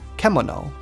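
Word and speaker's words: けもの: This kanji is pronounced kimono. But you couldn't figure that out from just looking at it. Its hiragana spelling is this, which can be broken down into the sounds k mo and no.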